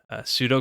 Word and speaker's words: pseudo: again to write some pseudo code so I always have trouble with that word I want to pronounce the P but so I'm gonna